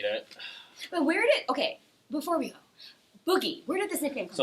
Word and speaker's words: Boogie: So it's pronounced Boogie.